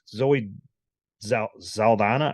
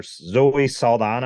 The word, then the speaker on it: Zoe Saldana: um Gamora I think Zoe zeldana or Zoe Saldana I think is how you say her name I think she's probably